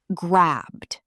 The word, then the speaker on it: grabbed: grabbed That's the d ending.